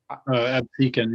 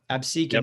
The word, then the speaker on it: Absecon: And so I wonder, oh gosh, I forget how you pronounce the name of the town, the New Jersey town. Goodbye. Absecon, yeah. Yeah, Absecon, yep.